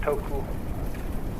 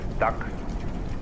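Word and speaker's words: 德: Uh, the Japanese pronounce it toku, the Cantonese duck, and the northern Mandarins approximately dirt.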